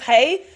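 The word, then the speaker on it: Haigh: Elizabeth Haye. So, their surname is spelled H A I G H. Okay. Elizabeth. H A I G H. That is Elizabeth Haye.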